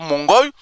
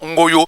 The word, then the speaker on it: Ngoyo: Donc au lieu de dire Ngoyo, ils en ont changé, c'est maintenant Ngoyo.